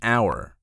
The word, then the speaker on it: hour: For instance, an hour, the H is silent, creating a vowel sound versus a historic day.